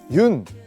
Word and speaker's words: 윤: 여기 보시면 흙이 있는데요 많은 분들이 아마 그 윤 이제 윤이라고 읽거든요 연이라고 읽으실 수도 있고 뭐 여러가지 방법으로 화백 님의 성입니다 그래서 외국에서는 윤이라고 많이 부르기 때문에 제가 그 윤이라는 그